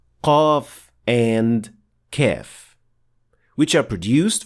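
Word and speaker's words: قاف: If you're struggling with pronouncing Qaf, or when you try to produce it, it sounds more like an English K rather than Qaf.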